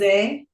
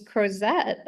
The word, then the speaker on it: Crozet: I have been mispronouncing that, by the way, for like So it's months. Crozet. I thought it was Crozet.